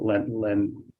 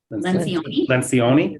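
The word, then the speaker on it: Lencioni: Is it Len Lion? Lencion.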